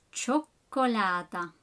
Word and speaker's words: cioccolata: Notice how the spelling is different, although the pronunciation of the ch is similar to ch, but in Italian, to create the ch sound, you have to do C-I-O, cio, cioccolata. Numero 6, pancake, like in English, or frittelle, frittelle.